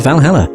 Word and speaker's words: VA-11 HALL-A: Sakura Miki hey Valhalla the name sounds silly and a bit hard to pronounce good thing it's actually called Valhalla the funny numbers and letters are just a code anyway I visited this cute